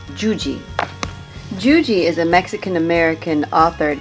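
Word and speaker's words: Yuyi: and it's confusing because when you see her name it's y-u-y-i but you pronounce that juji juji is a mexican-american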